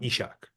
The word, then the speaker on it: Ishak: was in high school my brother said to me you're pronouncing your name wrong it's supposed to be Isaac not ishak I was like I